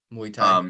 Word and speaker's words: Muay Thai: And so, doing Muay Thai, you said? Muay Thai, is that how you say it? Muay Thai, yeah.